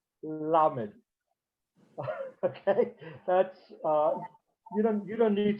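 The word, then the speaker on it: למד: Their lamed, to me, it sounds the same, but they actually touch the tip of the tongue to the palate. So the letter lamed would be pronounced lamed, lamed.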